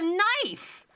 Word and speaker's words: knife: of the connecting consonant wait the K is silent yeah cuz it's a knife that's a n Sound oh my kqu in-law